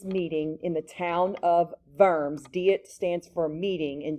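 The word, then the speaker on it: Worms: as the deit of verms you pronounce the w with a v so for the what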